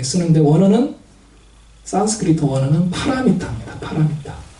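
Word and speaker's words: पारमिता: 파라미타. 네. 파라미타는 이제 중국 사람들의 발음으로 우리가 읽으니까 바람일다라고 하는데 이 바람일다, 파라미타도 인도 고대 언어인 산스크리트예요.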